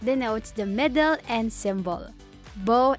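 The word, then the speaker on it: Baume: the middle and symbol Beau and Mercier should be used instead of bow and Mercier whilst speaking in French November 17 IWC Chef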